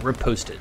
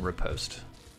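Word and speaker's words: riposte: the attack and then repost dealing extra damage and that is spelled r i p o s t e it's a French term because it comes from fencing which is a French sport so dark at night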